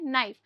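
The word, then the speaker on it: knife: नाइफ। ध्यान रखना जो यहां पे के है वो साइलेंट है।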